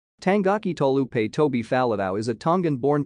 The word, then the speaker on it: Taulupe: recent years he has requested that his rugby squad name be recorded more accurately as tolupe but does not mind